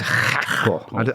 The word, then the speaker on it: Gakpo: But that was another one of those pronunciations like Wirtz. It's Gakpo.